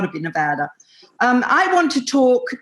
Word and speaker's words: Nevada: citizen living in nevada which you have learned to pronounce beautifully nevada oh yeah gotta be nevada um of course i'm english i want i want to say nevada but i keep i keep reminding myself no it's got to be nevada um